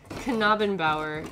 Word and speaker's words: Knabenbauer: It's pronounced Knabenbauer. You say the K and the N separately.